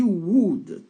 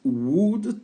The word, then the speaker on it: would: a a éta she would take elle prendrait donc on dit pas W on prononce pas le l on prononce ici que